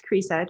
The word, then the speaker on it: Cresa: And Cressa, please, if I've mispronounced your name, feel free to correct me. Yeah, it's Cressa.